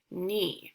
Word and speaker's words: knee: one is mm e knee so I typed it into this box because it has a KN at the beginning so let's look over